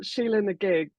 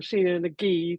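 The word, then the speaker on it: Sheela-Na-Gig: So I went for Sheila and the Gig, or Sheila and the Gee, depending on how you pronounce it. But I always said Sheila and the Gig, but she sings it the Gee.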